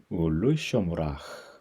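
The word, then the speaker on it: וּלְשָׁמְרָהּ: 그러니까 여기서는 아로 읽으시면 안 되고 오로 읽어야 되는 거죠. 울루 쇼무라.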